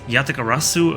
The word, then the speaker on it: Yatagarasu: Pronounced Yatagarasu, a mystical crow with 3 legs and 3